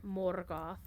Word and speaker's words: Morgoth: Morgoth, you gotta roll your R, Morgoth, can no longer trouble